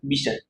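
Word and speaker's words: Bichat: टी ठीक है जिसकी इसके प्रोनाउंसिएशन में टी को साइलेंट रखते हैं लोग miss B आई एस एच मिश टी नहीं टी साइलेंट रहता है मिश इन्होंने टर्म टिश्यू दिया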